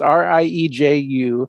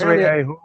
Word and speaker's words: Rieju: Okay, if you can't pronounce it, you shouldn't be selling it here. Well, I didn't name the company. It's Rieju. That's Rieju.